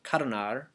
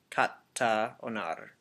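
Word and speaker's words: κατ᾽ ὄναρ: And this is the same thing that happens in ancient Greek, except they're dropping the A sound in kata and they're blending it with the O, so katonar instead of kata-onar. Kata-onar. Katonar. Katonar.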